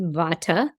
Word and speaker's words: Vata: made of air ether here in the west we pronounce it Vata then there's PA which